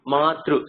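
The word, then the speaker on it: मातृ: And Madru, it's just through, Madru. Matru. So this is the ru. You remember the vowels? Right. The ru, that is an amrita. Same thing. Matru. That vowel can attach to any consonant.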